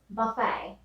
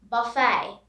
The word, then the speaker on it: buffet: the spelling is is buffet here the t is silent buffet buffet next round of